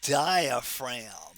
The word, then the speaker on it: diaphragm: And that right there is again that major muscle of respiration which is known as the diaphragm. Don't forget the silent G in diaphragm.